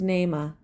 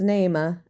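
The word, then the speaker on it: Naamah: David his mother was Nema an ammonite woman then his son Abba Jam I want to pronounce that correctly hold on well I would have been wrong so his mother was neyma an ammonite woman then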